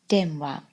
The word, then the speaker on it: 電話: The pronunciation is wa, and if you put that together with den, you get denwa, or telephone.